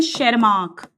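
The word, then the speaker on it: Tschermak: तीसरे वैज्ञानिक, शेरमार्क के नाम में "T" अक्षर साइलेंट है।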